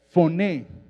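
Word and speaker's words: φωνή: bien lo que dice, La palabra en griego es foné, F-O-N-E, y bueno, acento en la E, y bueno, la E con acento, para que me entienda.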